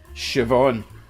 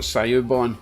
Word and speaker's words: Siobhan: And it is pronounced Siobhan. Siobhan. Siobhan. It's not Sayubon, in case you were wondering, okay?